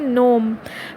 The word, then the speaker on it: gnome: The graver प्रूड sinks downward to अ नोम, GNOME mean, ये इसकी pronunciation है नोम।